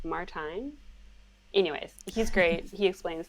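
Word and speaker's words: Martijn: fabulous and it says my name is martin pronounced like valentine so is it martin anyways he's great he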